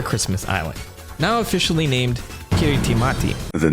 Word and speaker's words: Kiritimati: The nuclear test Naka is referring to happened on the other Christmas Island, now officially named Kiritimati. The name of the island is pronounced Kirisman. Kirisman.